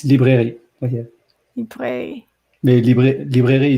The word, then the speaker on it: librairie: It's librairie.